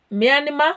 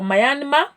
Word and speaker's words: Myanmar: And then we have got Micronesia, Federated States, Moldova Republic, Monaco, Mongolia, Montenegro, Morocco, Myanmar or Myanmar. Some call it Myanmar, some Myanmar, whichever.